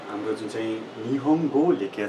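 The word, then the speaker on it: 日本語: language भनेको Japanese भाषामा चाहिँ जापानीज भाषालाई भन्दाखेरिमा निहोङगो भनिन्छ त्यसै छ तपाईको जापानलाई जापानलाई भन्न पर्दा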